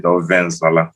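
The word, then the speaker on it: ofe nsala: Now, if I'm going to say it how we pronounce it, offensala, we have a way of pronouncing words.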